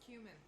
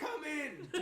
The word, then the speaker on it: cumin: It's pronounced cumin. Cumin. It's cumin. It's cumin. You want Don't some say more- it like that. You You said want- come in.